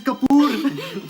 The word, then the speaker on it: Kapoor: Hey, at last I get to meet the lovely Mrs. Kapoor. Pronounced Cooper.